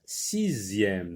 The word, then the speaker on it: sixième: Donc on va dire sixième. Donc z, c'est le son z, comme dans le mot deuxième.